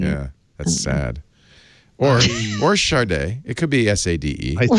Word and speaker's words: SADE: But it's pronounced Sharday.